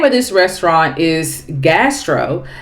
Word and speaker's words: Ghastro: York now the name of this restaurant is gastro it's spelled g h a s r o now